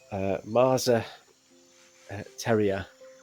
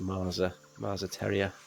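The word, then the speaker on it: Más a Tierra: So this is Marza Tierra. I'll spell that for you. So MAS with a sort of hyphen above the A. A-Tierra. I think it's pronounced Marza Tierra.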